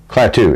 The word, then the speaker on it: Klaatu: Michael Rennie played Klaatu, or Klaatu. Plateau or Plateau? Klaatu. It's spelled K-L-A-T-U-U.